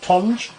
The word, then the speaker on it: Tonge: Tonge.